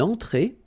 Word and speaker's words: entrée: Then une entrée. Une entrée. Okay, remember, well, technically this final here is not pronounced, so phonetically it doesn't exist, so it's et. Okay, entrée. Remember, nasal here, entrée.